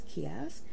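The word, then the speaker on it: ceasg: this one kiosk and it's spelled c-e-a-s-g but i saw the pronunciation as kiosk this is a mermaid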